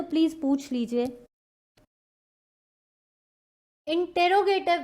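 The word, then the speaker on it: interrogative: ठीक है, next is इंटेरोगेटिव। इंटेरोगेटिव हमने किया था, देखो कई बच्चे बोलते हैं मैम इसकी प्रोनाउंसिएशन तो इंटेरोगेटिव नहीं, इट्स इंटेरोगेटिव। प्लीज प्रोनाउंसिएशन इसकी है इंटेरोगेटिव या इंटेरोगेटिव, लेकिन इंट्रोगेटिव नहीं है ये।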